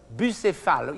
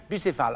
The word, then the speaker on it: Bucéphale: know the name of this horse, which was Bucéphale, in French, Bucéphale. I don't know how you pronounce in English, Bucephalus.